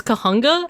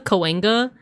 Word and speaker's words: Cahuenga: So there's different ways. There's Kahunga. I've heard locals say Kahunga, Cahuenga. But it's actually indigenous. It's actually, I think it's either Tongva or Tataviam or Chumash. And I think they would have pronounced it as like Kahugna, like the G first and then the N. Like I'll spell it out in chat. Kahugna.